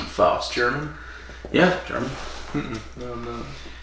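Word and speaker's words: Faust: of fost fost f a u s t fost German yeah German no no hey it was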